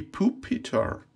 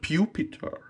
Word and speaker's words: Pupitar: not why it's yeah pupitar some uh pronounces as pupitar i don't know pew is a spell with p e w not with p u so it's it has to be pooh peter not pupitar pokemon breeders nurturing the